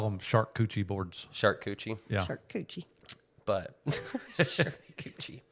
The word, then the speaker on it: charcuterie: pronounced it the right Charcuterie. way. Charcuterie. I call them shark coochie boards.